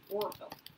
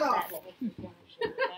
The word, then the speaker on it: Orville: Say it like Orville. Not awful.